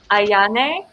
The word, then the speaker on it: Ayane: don't say it wrong ayane ayane ayane is it like ionic yeah it it basically does just look how it sounds okay um it's an ah instead of an a ayane master class is